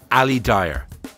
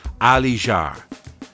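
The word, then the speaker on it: Ali Dia: You may know him as Ali Dyer. Well, it's actually pronounced Ali Jar.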